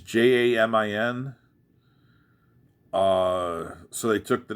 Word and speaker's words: Jamin: His real name was Yamin or Jamin Pugh. If I'm mispronouncing that, I'm sorry. It's Jamin.